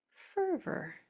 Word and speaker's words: fervor: An unstressed o r sounds like an R. It just sounds like. So what would this word say then? Four sounds. Fervor.